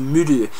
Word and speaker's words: Mõdu: And this, I understand in Estonian, when you have this little sort of squiggle above the O, it means you say like U. So this beer is pronounced Mõdu, and it's almost like the Estonian word for beer, ulu.